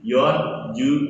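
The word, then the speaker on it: 四十: Penyebutan 2 digitnya dari angka 4 yaitu yon. Bukannya si ya. Si itu digunakan hanya untuk 1 digit. Seperti itu. Berarti apa? Kalau 40, 4 dan 10. 4 dan 10 berarti yon ju.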